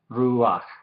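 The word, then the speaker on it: רוּחַ: Entonces es ruach, ruach. ¿Sí? Se dice la shurek y la patah casi juntos, ruach.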